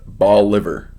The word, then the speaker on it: Bolivar: Versailles is pronounced Versailles Bolivar Missouri is ball liver Madrid Iowa is Madrid